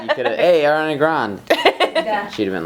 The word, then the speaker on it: Grande: Grande. Ariana Grande. Is that really how you say it? Yeah. That's so not. Okay, start over and say it again. Is it really? Yeah. Because I've heard it grand so many times. It's Grande.